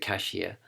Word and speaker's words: K'ShIA: to to obtain cashier cashier as I pronounce it cashier and so it is